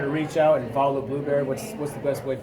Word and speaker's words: Blubrry: And if people wanted to reach out and follow Blubrry, what's the best way for people to do that?